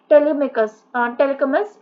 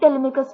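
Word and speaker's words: Telemachus: Penelope and हिज सन टेलेकमस, इनको ये भी पढ़ सकते हैं बट आई थिंक टेलेमिकस इनका करेक्ट प्रोनाउंसिएशन है, जो कि प्ले करते हैं crucial role embodying themes of faithfulness and family duty.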